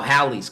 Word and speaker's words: Halley's: Okay, but the Halley's Comet is now Halley's Comet with a short A and a double L.